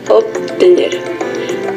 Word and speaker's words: obtener: Seguida de la letra T, la B se articula como P en pronunciación lenta o esmerada. Esto se observa en casos como obtener, que se pronunciaría obtener, y en la conversación familiar, que se realiza como una V fricativa.